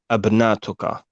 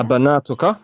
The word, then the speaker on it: أبناتك: Actually, it doesn't say abnatuka. You've got the hamza to istifham at the beginning, which means is or are, and then we've got banatuka.